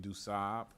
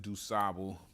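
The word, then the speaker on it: du Sable: black guy his name is John Baptist point duab it's okay Chicagoans pronounce it dubu but uh the Haitians wouldn't like it if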